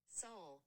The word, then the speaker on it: Seoul: Seoul.